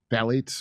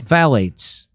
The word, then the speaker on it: phthalates: Phthalates. Phthalates.